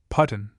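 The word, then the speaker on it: Pattan: We lunched at the fascinating little bungalow at Patton, pronounced Putton, about halfway between Baramula and Sreeniger.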